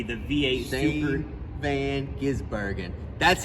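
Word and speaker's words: van Gisbergen: third one s v g the V8 super van gizbergen that's how you say it Rick Allen that's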